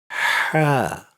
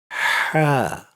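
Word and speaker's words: حاء: When you say this letter, the tongue naturally moves slightly back towards the throat. If it comes easily for you, that's great. Just say it. Ha.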